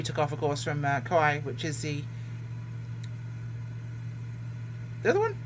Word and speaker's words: Kauai: We took off, of course, from Kauai, which is the other one.